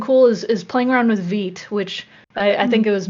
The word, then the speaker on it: Vite: People are saying TIL, it's pronounced Vite. I also learned that recently. I was pronouncing it Vite, like bite, but apparently it's French.